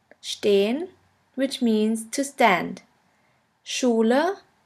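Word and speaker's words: stehen: means to speak and the second one is stain stain which means to stand Shula repression Steen the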